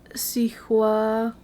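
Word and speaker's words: Cihuacoatl: with an S, but it is pronounced with an S, even though it starts with a C. Cicuatl. Never mind. Yeah, you have to add the at the end because of the TL.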